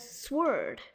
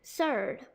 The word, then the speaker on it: sword: Now over here, that nasty W looks like you have to pronounce it, but it's really actually silent. You might have been saying it as sword, but it's supposed to be surd.